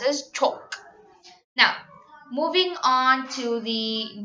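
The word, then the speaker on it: çok: the H for the this has the same pronunciation as the C and H which is pronounced CH so in Turkish there's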